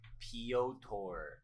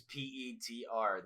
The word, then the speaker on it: Petr: Petr Yan had, for one, I wish people stop saying Piotr. That's spelled Pyotr. His name is Petr. Where's the P-O? It's Petr or Peter. Pick one, but it's not Piotr.